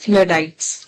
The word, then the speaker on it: Luddites: First it pronounced as Luddites.